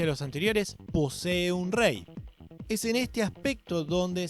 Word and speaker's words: Rek: Por último, tenemos el Re. El Re proviene de Camboya. La palabra Re se escribe Rec, pero se pronuncia con la R suave y la K pasa a ser silenciosa.